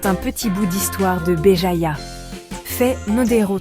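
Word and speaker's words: Béjaïa: Aujourd'hui, je vous emmène à Beéjaya, prononcer Beéjaya, une ville ensoleillée sur la côte méditerranéenne de l'Algérie.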